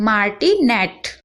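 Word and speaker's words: martinet: अब देखिए माटी नेट तो पहले आपको मा पढ़ना है उसके बाद र और टी पढ़ना है इस र भी लगेगा इसमें मैंने गलती से नहीं लगाया बट आप रा भी पढ़िए तो मार टी मटी उसके बाद नेट पढ़ना है वाला तो आपको इजी लगेगा नेट पढ़ लीजिए उसके बाद पहले वाला पढ़ लीजिए मा और फिर बीच का र टी मार्टिनेट अगर आपको कोई भी बड़ा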